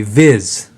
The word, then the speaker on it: Vis: This one is a Viz. It's VIS, but I believe it's pronounced VIZ.